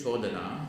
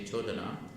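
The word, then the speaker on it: codana: So the first word is chodana, C-O-D-A-N-A, chodana. It comes from the Pali root chud, C-U-D, khad, not khad. Pali pronunciation chud, C-U-D, pronounced chud.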